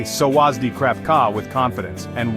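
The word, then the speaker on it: สวัสดี: Sawasdi is pronounced sawasdi, with the emphasis on the second syllable.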